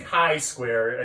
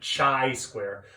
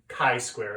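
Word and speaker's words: chi-square: Chi square it's pronounced hi square and spelled like this so a lot of people mispronounce it chai square but it's actually high score is how you pronounce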